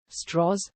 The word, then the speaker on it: Strauss: even such matters is the unusual southern-based pronunciation of his surname could be perceived as a puzzling artificiality pointedly in a 1997 essay in the New York Times book review commenting on the Oppenheimer matter literary critic Alfred kazana saves dross as one who pronounced his own name straws to make himself sound less Jewish Strauss had been a